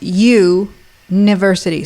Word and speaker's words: Youniversity: Okay, I'll spell it out then. Yes, you need Do it. It's goddess youniversity.